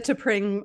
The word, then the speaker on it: Tepring: I feel like the Tepring, like spring, has been very helpful.